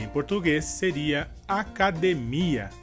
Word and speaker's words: academia: E em português seria academia. E a diferença seria que na palavra academia, a sílaba mais forte seria de. E em português, a sílaba mais forte seria mi.